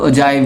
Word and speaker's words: ogive: इसकी प्रोनाउंसिएशन ऑगिव भी है और ओजाइव भी है। वो आप जो भी प्रोनाउंस करें आपकी मर्जी।